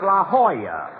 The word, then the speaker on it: La Jolla: I'm over here at the Jell-O Auto Court. Rochester, I found out that's pronounced La Jolla. It turned out to be a Spanish word.